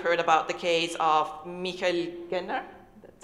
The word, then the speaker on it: Michael Genner: Here in Austria, only a few weeks ago, many of you will have heard about the case of Michael Genner, that's how you pronounce it, the chairman of Asyl in Not,